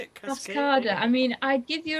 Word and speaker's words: Cascada: Cascada.